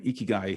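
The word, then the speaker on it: 生きがい: So first tip was to be learn how to say it, because in Japanese, the letter I actually sounds out as E. So that's why it's Ikigai.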